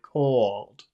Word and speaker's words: called: called c c then then you have to finish with a but you have to finish with a c you have to finish with an a called that's number two called called called say number one is it cold cold cold say number two is a called it's called Muhammad can